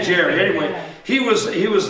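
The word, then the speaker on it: Gerry: Uh, Jerry Cunningham, how do you pronounce that with the backpacks and tent equipment? Gary or Jerry? I say Jerry.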